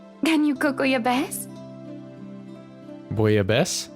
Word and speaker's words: bouillabaisse: Bouillabaisse? That's how you pronounce it.